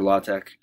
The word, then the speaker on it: LaTeX: and editing tool called la tech it's spelled la te X but it's pronounced la Tech and it allows for